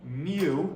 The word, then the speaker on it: mu: mu, that Greek u, mu is how it's pronounced with an m is just shorthand for the expected value.